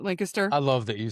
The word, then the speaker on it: Lancaster: If you are ever in the Lancaster area, have to say it right, Lancaster.